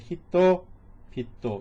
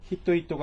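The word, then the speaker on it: 人々: 그래서 얘는 사람 인자가 두 개인데 읽을 때는 히토 히토가 아니라 히토 비토 이렇게 읽으시면 돼요.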